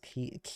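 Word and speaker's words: quay: The walkway by the water docks pronounced key. It's pronounced key.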